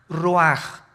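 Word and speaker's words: רוח: el versículo 29 y exhaló Isaac cosa el ruaj que se escribe r u a c h ruach en el hebreo y se pronuncia igual ruaj Aquí vemos que al morir dos personas diferentes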